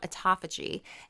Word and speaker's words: autophagy: But there is something called autophagy. And this is something where it kills off your Great old job on pronouncing that.